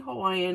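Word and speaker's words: Hawaiʻi: just as an FYI the actual word Hawaii in Hawaiian as pronounce Hawaii because W's are pronounced with a V so it's Hawaii do you care I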